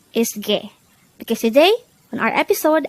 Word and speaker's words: 개: at day hangle word number 109 g g this word is composed of just one syllable pronounce it with me G G the